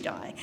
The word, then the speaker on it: Di: I've been calling her Di because it rhymes with Ty.